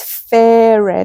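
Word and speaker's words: Ferun: So the next project is fair. I believe that's how you pronounce it.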